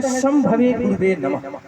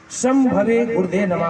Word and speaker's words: शंभवे गुरुवे नमः: एक शब्द है शंभवे गुरुवे नमः, इसके भी उच्चारण बहुत लोग गलत गलत तरीके से करते हैं। शंभवे गुरुदे नमः कोई बोलता है, कोई बोलते हैं शंभवे गुरुवे विमः। मैंने बहुत व्यक्तियों के त्रुटियां